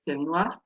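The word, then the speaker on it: film noir: film no in French I will pronounce it with the French way fil no um and this was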